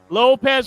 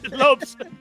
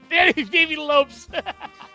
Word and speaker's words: Lopes: You say his name wrong. We're laughing because, you're messing up his name. Pour one out for your pronunciation of Davey For Lopez. my drinking, Lopes. Davey Lopes. See how I am?